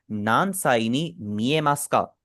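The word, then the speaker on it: 何歳に見えますか: नानसाइनी नियमास्का यहां पर भी हमारा उ साइलेंट है क्योंकि मैंने आपको बताया था जब भी हमारा मास आता है उसका ऊ साइलेंट हो जाता है।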